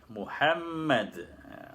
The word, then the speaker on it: Muhammad: Mohammad Fadli Fadli Muhammad Muhammad Muhammad itu Pulau ini memperhatikan ejaan Muhammad dengan double m Gan maka sebutlah ketika shalat seperti rukun selesai ya